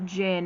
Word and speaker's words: Djinn: She accidentally summons a genie, or Jinn. It's spelled Djinn.